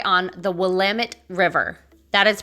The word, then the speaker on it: Willamette: the portland waterfront is right on the willamette river that is pronounced willamette not willametti this is a great river that flows all